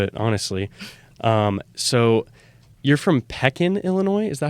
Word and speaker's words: Pekin: You're from Pekin, Illinois? Is that how you pronounce that?